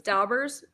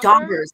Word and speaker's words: dauber: daubers, Lana. Oh, If I don't dauber. say it right, I'm going to get beat up. See that? Thank you, Mary P. So it's a Dauber, dauber. not dabber.